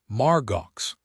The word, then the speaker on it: Margaux: Margaux, I said out loud. Pronounced like Margot.